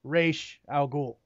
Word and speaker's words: Ra's al Ghul: things first and foremost it's pronounced race al Ghul reschedule now now enero